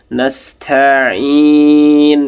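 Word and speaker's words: نستعين: Sinnya tipis saja. nastain gitu ya.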